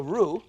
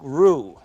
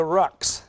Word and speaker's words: roux: and make a basic roux it's spelled r-o-u-x in dallas they call it a rux i'm afraid i found some fellas in new orleans that cook and they call it a rocks too which really i think